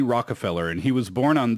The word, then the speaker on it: Rockefeller: 우리는 이제 록펠러 재단 이렇게 알고 있지만 Rockefeller 이렇게 발음을 하더라고요.